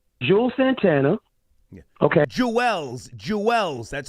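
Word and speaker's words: Juelz: Jewell's Jewels.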